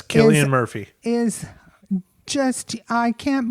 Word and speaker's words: Cillian: really really amazing uh Kian I think his name is pronounced yes Kian Murphy is just I